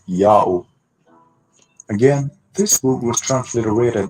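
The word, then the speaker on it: Jahoh: letter j but that letter j is y sound in latin and the h is silent it's not the first letter word therefore j a h o h is pronounced yao in the latin language a reason to be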